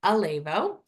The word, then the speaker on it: Elevo: start with this like how do you say it it's AO um we reband it a couple years ago and I think this was really hard for even our full-time staff so it's Alo um it means Elevate